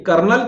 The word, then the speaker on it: colonel: अब चलिए कर्नल की स्पेलिंग का अगर बात करो तो कर्नल की स्पेलिंग क्या होता है? COLONEL। अब कर्नल में आर ही नहीं है भाई, अब देखिए इसमें आर ही नहीं है, लेकिन आप फिर भी पढ़ रहे हो, ठीक है।